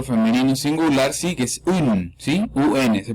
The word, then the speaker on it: une: Entonces empezamos con el artículo femenino singular, sí, que es un, ¿sí? UN, se pronuncia UN. Se escribe UNE, se pronuncia UN, un.